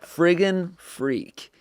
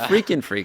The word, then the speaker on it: Friggin' Freak: Friggin' Freak. That's FRIGGINFEFR. I should say FREAK. you don't have to spell it 'cause no one's gonna get this one. It's not freaking freak. It's friggin' freak.